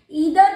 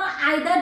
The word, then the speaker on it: either: बहुत से लोग ईदर को आइदर प्रोनाउंस करते हैं, तो मैं आपको क्लियर कर दूं, प्रोनाउंसिएशन दोनों ही ठीक है। ईदर भी आप प्रोनाउंस कर सकते हो और आइदर भी प्रोनाउंस कर सकते हो।